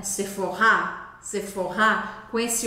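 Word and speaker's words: Sephora: sons o próximo é sefor sefor pois é a marca sefor é Francesa e a gente fala de novo com a sílaba forte no final sefor não é sefora é sefor sefor com esse o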